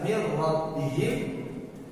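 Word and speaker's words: مِن رَّبِّهِم: Adapun yang kedua, min rabbihim, yang dibaca mir rabbihim, maka dia berubah, bahkan nunnya hilang, rohnya yang asalnya satu menjadi tasydid menjadi dua.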